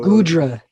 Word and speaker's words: Goodra: The Godra. Godra. How do you spell that? Godra. G-O. Goodra.